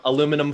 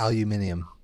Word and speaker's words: aluminium: But Well, there is an extra vowel in it, so you might as well pronounce it. oh yeah, aluminum foil. Come on, we all know how it's really it's pronounced. aluminium.